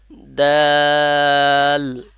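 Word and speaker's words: دال: যেভাবে slow motion হয় ঠিক ওইভাবে যে আপনার জিহ্বাটা আবার লাগবে প্রথম অবস্থায় থাকবে দাঁতের গোড়ায় দুই দাঁতের গোড়ায় আবার লাস্ট মোমেন্টে এসে আপনার দাঁতের গোড়ায় যে লাগবে যেমন দাল দাল তাহলে দেখবেন সঠিক উচ্চারণটা আসবে তো যারা বারবার দেখে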